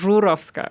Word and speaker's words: Zurowska: my last name because the original way you should say it is Zurovska, which is even more hard. Okay. Yes. My name is Zurovska or Zurovska and my life in Poland was beautiful.